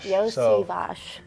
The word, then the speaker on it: Iosivas: it yeah Andre Yos Yos some people know me as Yoshi but the sh part comes at the end of my name actually so okay so